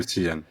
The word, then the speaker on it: Cillian: C'est Kylian ou Kylian?